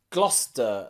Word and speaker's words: Gloucester: there are cities and places in english that often have a silent sea especially in my country the uk england where i live there are places like leicester and gloucester and worcester okay and nearly all of